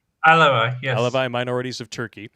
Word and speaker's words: Alevi: Participated in various protests to oppose discrimination against the Christian, Jewish, and how do you pronounce that? Alevi? Alevi, yes.